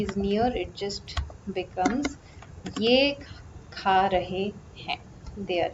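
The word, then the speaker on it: यह: Ye is written in the script as yah, pronounced as ye.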